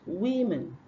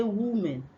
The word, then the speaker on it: women: This very word here is pronounced women. But we used to say woman. So that means we exchange the short E sound for U. We say woman. So it is women, not woman, right?